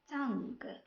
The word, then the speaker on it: tongue: Sometimes U is silent when it comes after letter G. بمعنى بعض الأحيان كيكون اليو silent إذا جا more letter G. An example: colleague, guide, tongue, guilty.